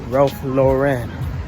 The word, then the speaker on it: Ralph Lauren: Oh, Lauren. Ralph Lauren. Say it like that.